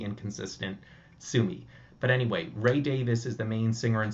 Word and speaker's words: Davies: as I understand it the name is of Welsh origin and it's meant to be pronounced Davis uh but I think